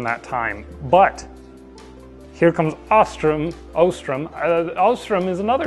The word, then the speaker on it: Ostrom: time but here comes Ostrom Ostrom Ostrom is another name that i heard for the first time out loud yesterday I've always said Ostrom but it's Ostrom but Ostrom and his